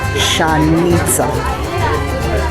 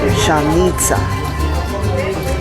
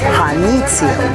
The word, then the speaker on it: Janitzio: So in Purepecha, it's pronounced Janitzio. Janitzio. In Espanol, Janitzio. In English, Janitzio.